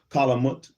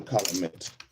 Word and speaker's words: calumet: Tunica Indians who were returning from smoking the calumet with the calumet with the Chittimakas. And Benneville, what is a calumet?